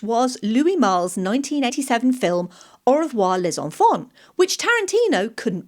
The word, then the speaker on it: au revoir: Louis Malle's 1987 film Au revoir les enfants, which Tarantino couldn't pronounce. He instead pronounced au revoir as reservoir.